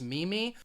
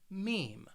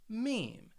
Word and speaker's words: meme: had people say it's mimi but this word i think it slightly it's pronounced the way it's spelled with that long e sound meme meme i'll give you an